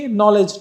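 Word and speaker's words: knowledge: ইংলিশের মধ্যে দেখতে পেয়েছেন যেমন কি নলেজ নলেজ লেখার সময় কে আছে কে এটা পড়া যায় না এমনি ভাবে নো দেখতে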